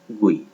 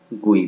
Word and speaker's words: GUI: GUI is pronounced like GUI। GUI को हम लोग GUI भी प्रोनाउंस करते हैं।